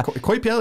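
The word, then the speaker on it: Coipel: did we did a spiderwoman variant okay yeah koi piel he's french yeah he's fresh olivier so this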